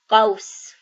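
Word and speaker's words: قوس: So here, since it is not matching, it would be pronounced as the letter W. So now if we read it, it is qaus.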